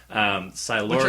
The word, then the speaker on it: Silurian: the Silurian, which we now have the correct pronunciation thanks to the Doctor. Silurian.